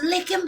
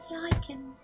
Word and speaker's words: lichen: you think they have licking pox? I think a lot of people want to be ruled. I Is that think how that you pronounce it? Licking? Lichen.